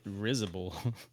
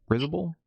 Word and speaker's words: risible: That's what I think they Did you say rizible? Preposterous, absurd. Uh, did I say it right? Is it rizible? Risible. Preposterous, absurd, spars, etc. Yeah, risible. Okay.